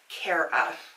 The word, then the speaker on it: Kara: Okay, so a really quick question is, do I pronounce my name Kara or Kara? And it is Kara. I'll answer to Kara. I've been called worse, but it is actually Kara.